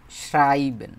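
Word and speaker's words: schreiben: লেখা, শুধু লেখা, এটার যে জার্মানটা, এটা হতেছে শ্রাইবেন বলে এটাকে, শ্রাইবেন। এটা মানে হচ্ছে লেখা। উচ্চারণটা করেন তো, শ্রাইবেন, শ্রাই তারপর হচ্ছে বেন, শ্রাইবেন।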